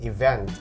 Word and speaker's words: event: atau lavalinnya harus event Oke stressingnya di syable atau suku kata yang kedua event event nah sementara kalau yang